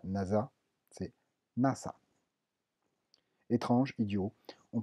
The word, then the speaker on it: nasa: Attention, toutefois, le S se prononce toujours se, donc c'est pas NASA, c'est NASA.